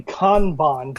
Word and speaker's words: Kanban: B ay n methodologies well it's actually Kanban but for most of us in America we just call it Kanban can Mac it sounds very Midwest Kanban do you have do